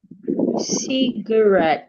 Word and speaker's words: cigarette: Cigarette. So there is a sure in good. Cigarette. We stressing red.